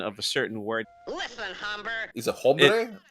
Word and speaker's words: hombre: As I was telling some singers a few days ago, the sound doesn't exist in Spanish, so it would be hombre. So you would roll the R.